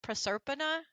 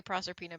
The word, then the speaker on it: Proserpina: It's actually technically pronounced Proserpina, but I say Proserpina because nobody else can say it, so I'm like, Yeah, it kind of makes it easier.